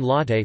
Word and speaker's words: latte: Latte is missing on coffee menus. In Italian, latte, pronounced latte, means milk.